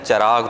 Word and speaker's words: چراغ: چراغ تلفظ درست نہیں ہے, چراغ درست ہے, چے پر زبر ہے.